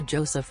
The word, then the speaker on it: Joseph: professor I visited Professor Joseph often after that chance meeting drawing and Drafting and studying in his atellier he pronounced the surname the French way with the stress on the second syllable pausing he smiled in